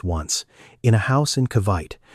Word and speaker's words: Cavite: Her mother had done something like this once in a house in Cavite, which is pronounced Kah-vee-tay, on a street where the pavement gave out about halfway down.